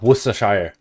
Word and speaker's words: Worcestershire: Oh, Worcestershire.